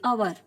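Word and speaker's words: hour: रही है, आवर, एन आवर, तो यहाँ पे हम क्या यूज करेंगे, क्या यूज करेंगे, एन का यूज करेंगे। H is silent, so the word begin with the vowel and sound of O.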